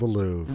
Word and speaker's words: Louvre: a whole museum called the Louvre. Right. But here in the I lobby believe of your it's city, pronounced the Louvre. the Louvre, it's Louvre. The Louvre. It's like the Brett Favre.